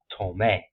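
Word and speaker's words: tomé: So we will pronounce this tome, tomo. If you were to take away the accent, it would be tome, tomo.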